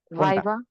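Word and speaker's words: viva: ভি আছে ঠিক আছে ভাইবার দুটো সাইডে আপনার ভি আছে সো ভি থাকার কারণে এটার সাউন্ডটা হবে ভাইব্রেশন সহ ভাইবা ভাইবা ভাইবা এটাকে আমরা নরমালি বলি কি ভাইবা আমি ভাইবা দিতে যাচ্ছি ভাইবা বুঝতে পারছি জাস্ট ভাইবা কোন বাতাস আসবে না আচ্ছা আমি হোয়াটসঅ্যাপ নাম্বার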